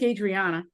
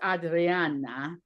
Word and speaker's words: Adriana: Adriana, you could say it either way. What do you prefer? I'm like Adriana because that's how my dad said it, but um you know in Italy it's Adriana.